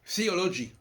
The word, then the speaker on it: théologie: Nous ne devrions pas dire théologie, nous devrions dire theology.